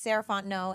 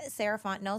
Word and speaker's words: Sarah Fontenot: again my name is sarant no and you can find me at Ms saraon no so Ms s a r a h fo o n t n o t the t is silent um that's me on